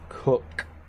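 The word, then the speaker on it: Koch: in the past week it is pronounced cook alrighty so I have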